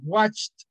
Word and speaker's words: watched: Okay, como watch, el normal, y le agregamos un sonido de T al final. Watched.